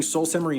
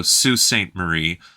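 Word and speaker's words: Sault Ste. Marie: a quick edit there it's pronounced Sue not salt or Saul or anything else you might think it's Sue so Sue Saint Marie oh Sweetgrass Montana and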